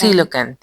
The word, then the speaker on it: coelacanth: coelacanth.